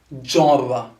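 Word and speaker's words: genre: one here which is g inspired is java jarva for example a musical jarva a cultural jarva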